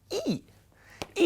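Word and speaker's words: 義: ให้ อ่าน นะ ครับ ตัว นี้ อ่าน ว่า อ ดู ปาก ผม นะ ครับ อี้ อี้ ตัว นี้ เนี่ย แปล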